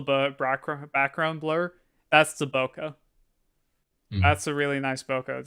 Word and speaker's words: bokeh: Yeah, it's bokeh. Basically, the bokeh is the word for the background blur. Like in that cat image I sent, you can see all the back background blur. That's the bokeh.